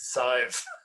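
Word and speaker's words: Sadhbh: And I'd say, that is Sive or Sirsha. You know, all those tricky Irish names.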